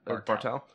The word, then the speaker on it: Bartel: Bartle? Bartle. Bartel? Bartel.